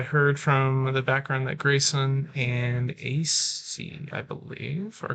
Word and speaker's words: Gracen: Grayson C on the left. Grayson C. Grayson is spelled Gracen. G-R-A. There's no Y.